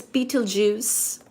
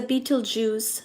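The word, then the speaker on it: Betelgeuse: a super giant star such as Beetlejuice, which is spelled as B E T E L G E U S E. So like Beetlej use.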